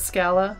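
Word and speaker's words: Schala: to be similar as R and L are interchangeable in Japanese so Sarah becomes solid sha like shallow so sha mashaallah let's let's go with shala I always pronounce it scala shallows is also nice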